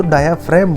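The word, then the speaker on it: diaphragm: इसको बोलते हैं डायाफ्राम जी साइलेंट होता है तो डायाफ्राम बोलते हैं और यह चेस्ट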